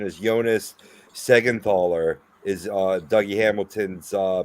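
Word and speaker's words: Siegenthaler: Larry Adam um I'm gonna believe that this pronunciation is Jonas secondthaller is uh Dougie Hamilton's uh pairing on the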